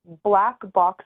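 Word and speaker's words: Blaq Box: the photography one is it's Black Box photo but it's spelled different it's spelled b l a q box photo got that and uh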